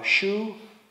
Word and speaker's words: Shu: Shu, Ha, and Ri. And Shu rhymes with Shu, you know, like the stuff, fortunately the same in German.